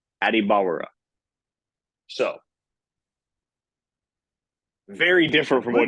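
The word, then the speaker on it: Adebawore: And he said, Adibawara.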